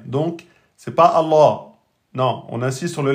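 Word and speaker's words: الله: Donc on prononce Allah. Le nom d'Allah, il y a toujours une shida sur le lem. Donc c'est pas Allah.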